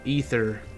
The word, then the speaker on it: Aether: I know that they pronounce an ether in Final Fantasy XIV. I just don't understand why when they spell it as Aether.